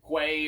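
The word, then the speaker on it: queue: know in a group Quay or or a cue however you want to pronounce it we prefer q but whatever if you're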